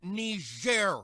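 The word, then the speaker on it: Niger: thing it's pronounced ner Mr President and it's a country in Africa oh aren't we fancy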